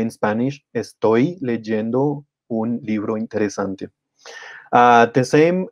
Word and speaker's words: leyendo: we want to add the ending yendo that I in the in the beginning becomes Y in Spanish and then we end up saying legend legend just remember that Double L and Y are pronounced kind of the same as J in Jenny legenda there might be